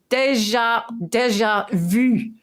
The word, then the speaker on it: déjà vu: Is déjà vu. That's how you say it. Vu. You have to do this thing. Yeah, like you say. Yeah, with your gob.